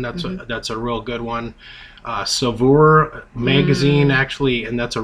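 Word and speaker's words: Saveur: Savour magazine, actually, and that's a really, really good magazine, and that's another tip if you're really into cooking.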